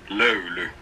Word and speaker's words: LOYLY: the company's voice and telling you how to pronounce the company. So, the company's name is? LOYLY. LOYLY.